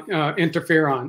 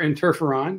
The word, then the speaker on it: interferon: Okay, so today's going to be on interferon or interferon, depending on how you prefer to pronounce it.